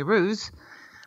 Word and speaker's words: Roos: r o oos is is that the proper pronunciation in Holland is it Rose yeah it is Rose because it's the same meaning the flower okay yeah so um Rose why don't you tell everybody where it is that you are at the moment where you live okay hi everyone I'm rose that's how I pronounce it but it's fine that people call me ruse like the kangaroos um but I'm living